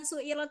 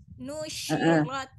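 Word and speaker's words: نُشِرَتْ: Ingat bukan suirat lagi tapi nushirat.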